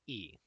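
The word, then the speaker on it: 一: If you are not already familiar with it, it is a Chinese character for the number 1, which is pronounced E, like the letter.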